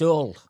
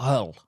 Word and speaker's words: Hull: up and went it's all you don't pronounce the h is all not Hull now that might say